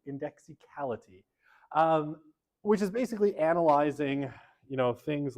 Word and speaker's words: indexicality: never pronounce this word, indexicality. Not indexiality, which is what I usually say, indexicality, which is basically analyzing,